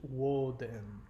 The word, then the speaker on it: Woden: bit about that, but the name Odin is the Scandinavian pronunciation of the actual Germanic word Woden. So Odin is unfortunately an incorrect pronunciation. The actual pronunciation of his name is Woden.